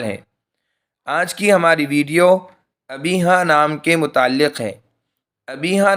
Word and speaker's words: ابیہا: لیے استعمال ہوتا ہے۔ ابیہا اخیر میں ہاں کے ساتھ کے معنی سمجھدار کے ہیں۔ اس کا صحیح تلفظ یہ ہے کہ اخیر میں الف کے بجائے ہاں پڑھی جائے۔ یہ نام رکھنا درست